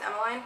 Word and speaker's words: Emmeline: I personally pronounce it Emmeline, but apparently it's Emmeline.